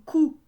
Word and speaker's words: coup: Loup, on ne prononce pas le P, hein, comme coup. Hein, un coup de foudre, coup de poing. coup de cœur. Hein? Alors, coup a un P muet également, donc loup également.